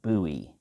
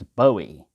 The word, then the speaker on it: Bowie: the comment he said i left immediately when i heard you pronounce it buoy because it's bowie david bowie you know named himself after bowie you know and everything